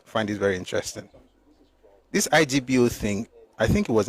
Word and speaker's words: Igbo: thing they are doing, I spelled it as IBO, but pronounce it as Igbo, because the Igbo people themselves pronounce it as Igbo. They don't say Igbo, they say Igbo.